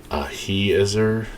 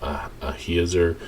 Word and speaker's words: Ahiezer: of Dan shall be Ahiezer. I think that's how you pronounce it, because I is usually a long E sound. Ahiezer, the son of Ammishaddai,